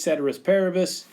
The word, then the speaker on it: ceteris paribus: It's a Latin phrase, ceteris paribus. I know, if you've actually taken Latin, I've basically done the American pronunciation of it, but whatever, that's the way it goes.